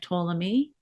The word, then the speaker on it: Ptolemy: least an illustration of Ptolemy you're going to hear this name Ptolemy with a silent p um because he was